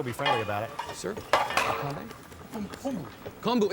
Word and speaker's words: kombu: Kombu. It's kombu, Alton. Oh, kombu. I'm sorry. Didn't recognize it. I've only seen that in its dry form. It's quite large. I can't imagine swimming through that. Kombu is one of the ingredients that's usually combined